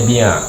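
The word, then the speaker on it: بيع: berhubung mengkhususkan oleh mereka umat-umat terdahulu akan kebolehan ibadah dengan bia itu jangan baca bai ya bacanya bia dengan gereja-gerejaah itu jamak daripada biah jamaknya bia gereja-gere ee mereka khususkan dengan gereja-gereja Sinagog sinagog.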